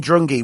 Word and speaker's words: Drungi: world it's beautiful beautiful place now your name druni what's the meaning and did I say it